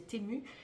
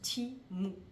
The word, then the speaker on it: Temu: question du site Timo alors c'est écrit tému nous on aurait tendance à le prononcer témoin mais ça se prononce Timo j'ai beaucoup de choses